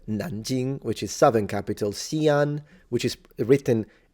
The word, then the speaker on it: Xi'an: Xi'an, which is written Xian, but it's the X in Chinese is a sound in between the S in English and the sh in English. It's in between. So you would have sh, s. It's the second one.